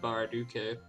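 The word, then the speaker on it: Baraduke: game very dude k I think it's pronounced Barra Duque you know it's Japanese so you pronounce that II and there's some other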